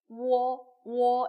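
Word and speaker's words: 我: 나 WO가 나왔어요. 어떻게 읽을까요? 워 이렇게 읽습니다. 그죠? 워. 근데 여기다가 삼성이 들어왔어요. 어떻게 읽어요? 워 이렇게 읽는 겁니다. 아시겠죠? 워에다가 삼성이 들어왔으니까 워 이렇게 되는 거예요.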